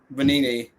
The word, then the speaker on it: Benigni: Now, of course, Austin Benigni, is that how you pronounce it? Yeah, Benini returns with the rest of the starting five.